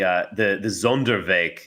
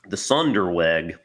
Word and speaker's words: Sonderweg: In this kind of, I was thinking about the Zonderweg thesis for German identity.